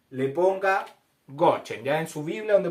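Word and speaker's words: גושן: palabra gosen es la palabra Go se escribe se escribe en hebreo goen para que usted Arribita donde dice gosen le ponga gochen ya en su Biblia donde parece gosen le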